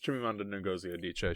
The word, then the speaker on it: Chimamanda Ngozi Adichie: Purple Hibiscus, I looked up the pronunciation of the author's name. Yes, Chimamanda Ngozi Adichie.